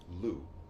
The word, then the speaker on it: Lugh: Dedicated to the Celtic god of Lu. The G and the H are silent for some reason.